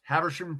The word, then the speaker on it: Habersham: Yes, Habersham County, Georgia. How you spell that? Hamersham? Habersham, Haber. Pardon me. ERSHAM. Habersham.